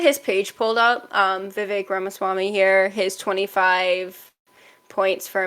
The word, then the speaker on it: Vivek Ramaswamy: running for president who declared fairly early um Vivek ramaswamy I'm so sorry if I butcher that name